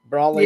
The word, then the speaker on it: Broly: Is that the correct pronunciation? Anime Girl for an umbrella. Broly.